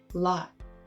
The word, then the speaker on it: lot: In the word lot, he pronounces the O spelling as aw, law. But this word is pronounced by American English speakers with an ah, lot.